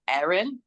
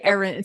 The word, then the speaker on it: Erin: like what is it I'm like Aaron and they go Aaron you have to say Erin so it's so funny